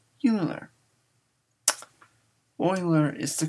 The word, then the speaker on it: Euler: do you pronounce his name some people say Euler other people say Euler Euler is the correct pronunciation why because Euler was German I didn't he spoke German and